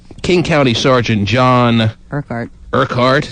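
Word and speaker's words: Urquhart: County Sergeant John Kart urkhart mhm that's how you pronounce Ur r q h a r t yeah okay uh John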